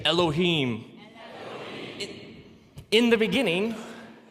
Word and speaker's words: Elohim: something like this and it's pronounced Elohim let me hear you say Elohim in the beginning Elohim created the heavens and